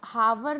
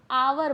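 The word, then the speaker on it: hour: तो देखिए जो यहाँ पे और दिया हुआ है, ठीक है, इसको हम लोग एच से स्टार्ट है तो हावर तो बोलते नहीं है ना, आवर बोलते हैं, ठीक है, आवर।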